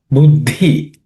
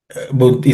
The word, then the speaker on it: Buddhi: There are no aspirated consonants. Buddhi. Buddhi.